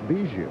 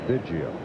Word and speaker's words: Biggio: around the country said, "No, Craig, it's Biggio." Well, Craig said, "All right, make it easier for everybody." His mom said, "No, it's Biggio." So we'll go with Biggio.